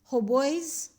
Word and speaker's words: hautboys: Hautboys are, you don't have to read the T here. The T is silent.